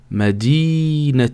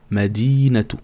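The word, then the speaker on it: مدينة: peux dire madina mais si tu fais la liaison avec le prochain mots tu devrais dire madinatou par exemple madinatou veut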